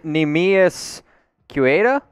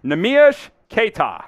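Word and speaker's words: Neemias Queta: Nemias Quieta? Let's go ahead and reveal it here, Sam. Nemia Yushketa. Nemias Keta.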